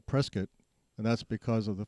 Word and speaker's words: Prescott: name Prescott we're the only one that's called preset and that's because of the family changing the uh uh way you pronounce it after they got here from England